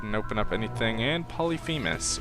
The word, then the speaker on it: Polyphemus: open up anything and polyphemus or polyphemus depending on if you want to say it correctly or if you want to say it the way most people do so now we're basically